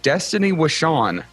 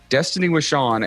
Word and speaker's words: Destaney Wishon: Today we have Destaney Wishon. Destaney Wishon, and I only said it twice because I'm so proud of myself for saying it right the first time. Destaney Wishon.